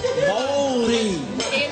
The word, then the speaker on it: Māori: Maori, Oh, you call them Māori? You gotta speak the lingo. Why do you call them Māori? Māori. Oh, the Māori. That's the correct pronunciation.